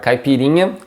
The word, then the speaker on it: caipirinha: the pronunciations here are caipirinha again this nya sound and kashasa again the ch here sounding more like an sh in english and